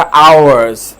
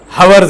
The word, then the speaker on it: hours: हिते हुन हिन वीचारा आवर्स, हवर्स न आहे इहो, घणा ग़लति प्रोनाउंसिएशन कंदा आहिनि।